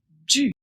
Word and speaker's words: du: Celui-là se prononce du. Le U doit être prononcé u.